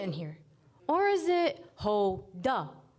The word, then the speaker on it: Houda: sing about me jokingly the nickname that stuck the most was yoda since it rhymed a lot with my real name's pronunciation hoda my parents chose to spell my name with a u that is silent when pronounced h-o-u-d-a a grammatical choice shaped